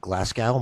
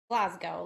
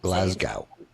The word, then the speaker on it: Glasgow: And today we have Julia Glascow. Am I pronouncing that correctly? Glasgow. Like the Glasgow. Just Okay. Just like in Scotland.